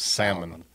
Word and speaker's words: salmon: The L silent. Says it's salmon.